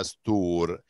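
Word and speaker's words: store: اللي في اخر الكلام ما بنطقهاش. امال هي بتعمل ايه؟ بتخلينا امد في الحرف اللي قبلها اللي هو الاودا هو. بتخلينا امد في الحرف المتحرك اللي قبلها اللي هو الاو عشان تبقى استور. هنا ما قلتش باك، انا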